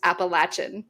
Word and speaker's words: Appalachian: of the trail is it is pronounced appalachin you are correct cool anyway sorry to